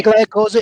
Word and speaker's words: Tagliacozzo: You are born in, and I'll probably mispronounce this again, Tagliacozzo? Yes, in Italy. Tagliacozzo, Italy.